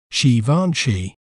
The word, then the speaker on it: Givenchy: We may pronounce it as Givenchy, Givenchy, G, Fan, She, Givenchy.